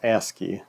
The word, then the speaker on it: ASCII: to the asky keyboard ASCII is pronounced asky as the footer says